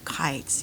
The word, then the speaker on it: kite: Sometimes we fly our kites. You see the word kites? It's got that silent E at the end. Without that silent E, it's the word kit. With the silent E, it's kite.